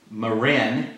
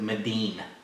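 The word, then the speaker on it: 味醂: It's called Marin in English, but in the Asians pronounce it Medin.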